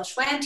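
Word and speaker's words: Schwandt: your name hi there it's Schwann so you got it pretty much perfectly thanks a lot for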